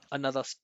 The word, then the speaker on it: another: run another startup another another or another you hear that another the or Another where these two unstressed syllables here, right? Another the unstressed syllables are so small.